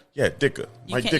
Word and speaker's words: Ditka: Dicker? Yeah, Dicker. Mike Dicker. You don't say the T.